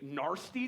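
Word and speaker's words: gnarsty: you can do a narsty trick Nar you can do a narsty trick that's spelled GN a r s t y NY NY trick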